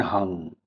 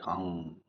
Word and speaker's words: hum: Start chanting hung hung hung hung So there are two variations hum and hung. Tantric practices we mostly use we mostly pronounce it like hum. So I consider it as a best you know way of pronouncing it and I frequently use it this way only.